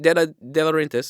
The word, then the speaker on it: De Laurentiis: said it right, De Laurentiis.